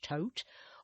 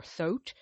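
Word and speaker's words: Thoth: So for example in the tote system otherwise known as th h o t it's pronounced tote or thot depending on the system the lineage.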